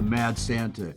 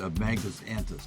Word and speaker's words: Magnus Antus: They wanted to call it the Mad Santa, and it's just a mispronunciation, which I think is funny. It's Magnus Antus.